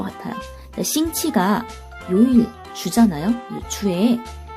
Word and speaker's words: 星期: 싱치지 이렇게 물어봐요. 싱치지 이건 또 무슨 뜻이냐? 자, 싱치라는 거는요. 단어를 볼까요? 자, 여기 싱치라는 단어가 있는데요. 싱치, 싱치라고 발음을 하죠. 싱키가 아니라 싱치입니다. 이거 치로 발음돼요.